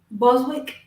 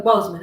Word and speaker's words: Boseman: When I read And I watched this thing talking about how Chadwick Boseman was Boswick. I think it was Boseman.